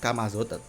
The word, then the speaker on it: Camazotz: Karena jujur kalau lu ngetik Kamazot kan, Kamazot tulisannya kan CAMAZOTZ, Kamazot, tapi dibaca Kamazot, kan ditulisnya Camazot, tapi kalau dibacanya kan Kamazot.